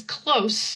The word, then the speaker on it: close: When it's pronounced with a Z, then that's the action to close.